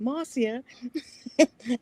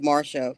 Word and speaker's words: Marcia: Masia instead of Marsha which is my American pronunciation.